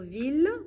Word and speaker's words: ville: Mais attention, pour ville, on prononce les deux L, E.